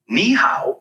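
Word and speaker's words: 你好: nice to meet you KNE how is pretty straightforward to pronounce it sounds like KN how just make sure to keep the KNE part high and then go down and pitch on the how give it a try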